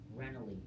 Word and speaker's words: Renly: Renly. Renly. Okay. Yeah. I'm gonna forget that in 3 minutes. So, no, wait, it rhymes with memory, Oh.